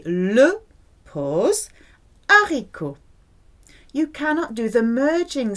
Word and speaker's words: haricot: You cannot hear H whether it's aspirated or mute. It is pronounced haricot. This is one of the very few words that begin with H that is aspirated.